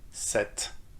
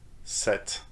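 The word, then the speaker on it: sept: pu sound in it set set so you shouldn't pronounce the p but you need to pronounce the t at the end set set all right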